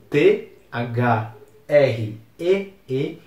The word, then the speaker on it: three: iniciais sem sobra de dúvidas porque é escrito t h r e e e se pronuncia three essa é uma palavra que até